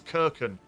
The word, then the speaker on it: Keuken: I did learn a little while ago that his name is actually pronounced as Keuken. I've been calling him Keuken for so long that I'm just not going to.